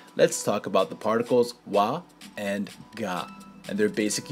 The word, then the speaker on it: は: A quick note about the syllable wa. Usually, it's written like this, but as a particle, it's written like this. Both wa and ga are used